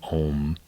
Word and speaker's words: Om: You know, in yoga they have a saying, Om. There's 3 little syllables, ah, oo, and ah is the birth, and oo is the life, and is the death.